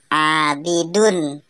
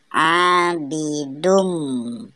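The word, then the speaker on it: عَابِدٌ: selanjutnya ada Idgham Bighunnah karena harokat dhommah tanwin bertemu dengan huruf mim harakat tanwin dileburkan sehingga Meme seolah-olah bertasydid cara membacanya tidak lagi menjadi abidun tetapi Abby dung ada ayat keempat dalam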